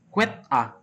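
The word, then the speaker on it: AAAA: 4A yaitu alamat IPv6 perangkat akhir diucapkan quit A.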